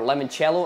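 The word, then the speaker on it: limoncello: comments are Southern Comforts lemon cello or lemon cello as it's meant to be pronounced some orange juice some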